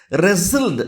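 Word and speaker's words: wrestled: ரெசில்டு அப்படின்னா இதில் W pronounce பண்ணக்கூடாது, ரெசில்டு அப்படின்னு சொல்கிறோம். ரெஸ்லிங் அப்படின்னாவே மல்யுத்தம் அப்படின்னு சொல்கிறது, கட்டி பிடிச்சி விளையாடுறது.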